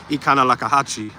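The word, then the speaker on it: Econlockhatchee: Some people have problem pronouncing the whole word Ikanalakahachi, but that's actually how you pronounce it.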